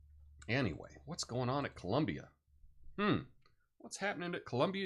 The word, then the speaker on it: Colombia: music now um anyway what's going on at Colombia hm what's happening at Columbia University you know what I spelled Colombia wrong shame on me I spelled it like